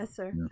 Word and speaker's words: Esser: Well, I appreciate Esser, how do you pronounce that? Whose answer was penises. Appreciative. Yeah, Esser, like Strasser. Yes.